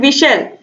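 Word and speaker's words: whistle: इसमें साइलेंट क्या रह गया, H और T इसमें साइलेंट रह गया, यानी कि H और T। आप विशल बोल के देखिए, आप देखोगे कि H का प्रोनाउंसिएशन नहीं हो रहा है, T का प्रोनाउंसिएशन नहीं हो रहा है।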